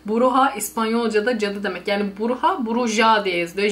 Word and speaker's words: bruja: Yani Bruja, Bruja diye yazılıyor. J'ler H diye okunuyor İspanyolca'da.